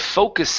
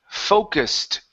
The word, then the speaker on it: focused: Instead of focused, the word is focused. E is silent, focused.